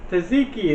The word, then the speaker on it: tzatziki: stuff with the euro sauce the terry saziki taziki that's it tzatziki yeah i have some tzatziki i was going